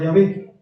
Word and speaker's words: Yahvé: En la segunda se utiliza el nombre impronunciable de Dios, que se pronunciaba Yahvé.